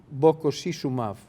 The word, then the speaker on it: bococizumab: And was interesting, bococizumab.